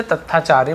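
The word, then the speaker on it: Tathacharya: आधा त ऐसे त आधा त और टी एच का था बन जाता, तथ्या ऐसे हो जाएगा ना, ठीक है। तो हम इसे तथाचार्य बोलेंगे, क्लियर है।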